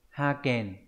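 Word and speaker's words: 派遣: bạn biết từ này đúng không nhỉ Đây đọc là hai kèn đấy hoa kèn là phái cử chữ phái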